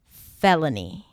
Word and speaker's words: felony: So, a felony is something more serious than that. So, to pronounce it, you start with the that's the